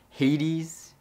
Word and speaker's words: Hades: i reviewed recently the hades yeah 80s is how you say it yeah hades which i butchered in